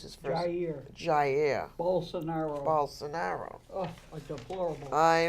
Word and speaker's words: Jair: How do you pronounce his first? Jair.